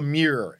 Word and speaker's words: MEER: There's this concept I call the MEER, and that's not my New York accent saying mirror.